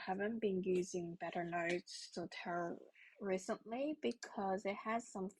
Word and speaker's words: Zotero: The GitHub What I would do is to Google to search Zotero, not Zotero, it's Zotero.